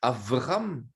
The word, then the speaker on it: Avram: avram puisque en fait normalement devrait dire avram puisque la lettre bête se prononce de deux manières différentes soit 1 b soit 1 v alors abraham abraham s'est